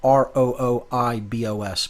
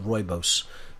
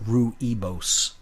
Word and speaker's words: Rooibos: all the antioxidants in it Rooibos it's spelled r-o-o-i-b-o-s pronounced Rooibos looks like Rue ebos but it's pronounced Rooibos and it's just it's